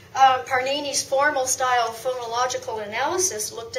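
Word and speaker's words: Pāṇini: panini, but I mean written like panini, but pronounced like Parnini, wrote in Sanskrit about phonology and grammar.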